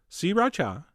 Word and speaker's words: Sriracha: same amount of Sriracha, which is how I've been told to pronounce it. 3 distinct syllables, Sriracha. Although, you know what? That sounds kind of weird. I'm going back to Sriracha.